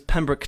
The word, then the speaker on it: Pembroke: new EP is called gravity my name is pemrick um that is my real name that's